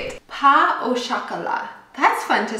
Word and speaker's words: pain au chocolat: Pain au chocolat.